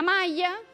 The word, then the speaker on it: maglia: ¿Vieron que, bueno, nosotros acá en Capital pronunciamos, por ejemplo, malla, lluvia?